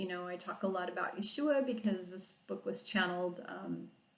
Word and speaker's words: Yeshua: Some people say Yeshua. They pronounce it different, and that's fine, however you pronounce it. Because I can speak a lot of foreign languages, I'm pronouncing it the proper name in Hebrew, which is Yeshua, and that was his Hebrew Aramaic name.